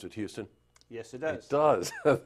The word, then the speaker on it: Houston: And joining me today is Tom Fuston, rhymes with Houston.